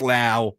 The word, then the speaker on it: Lau: One was Lau, one was Lowe. Brandon rhymes with now.